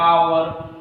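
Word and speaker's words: hour: लेकिन ये गलत है, क्योंकि जब इसका उच्चारण हम लोग करेंगे तो किससे आएगा? आवर, आ से आ रहा है, और जब आ से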